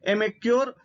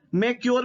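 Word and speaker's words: Emcure: Pharmaceutical के क्षेत्र में एमेक्योर फार्मास्यूटिकल की एग्जीक्यूटिव डायरेक्टर हैं, ध्यान रखिएगा। ठीक है, मैक्योर भी बहुत लोग पढ़ते हैं, बहुत सारे लोग ई को साइलेंट कर देते हैं, मैक्योर, ई मैक्योर।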